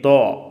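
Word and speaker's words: ظ: ഇതിൻ്റെ ഉച്ചാരണം ഡി ഹെച്ച് എ എ, ദോ, ദോ. നാക്കിൻ്റെ അറ്റം മുൻപല്ലുകളോട് ചേർത്തിട്ടാണ് ഇത് ഉച്ചരിക്കേണ്ടത്. ലോ, ലോ, സോദ്, ലോദ്, തോ, ലോ.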